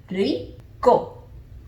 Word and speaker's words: Rico: You just have a teensy bit of a different pronunciation, again, because of the R.